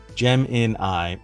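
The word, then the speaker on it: Gemini: that doesn't help me gem in I is one of the phonetic pronunciations of it gem in I okay that's consistent with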